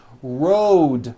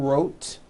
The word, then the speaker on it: road: with a voiced d road also has a voiced d ending road it's not wrote on voiced its Road the whole word is voiced let's go